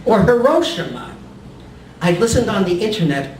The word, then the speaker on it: Hiroshima: Hiroshima. Is it Hiroshima or Hiroshima? I listened on the internet over and over. I heard subtle variations of Hiroshima. In all variations, ro and shi are distinct syllables.